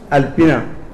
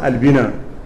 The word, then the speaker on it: Alpina: Cette organisation dénommée Alliance populaire pour la paix et l'unité nationale, Alpina, qui se prononce Albina, ayant pour mission principale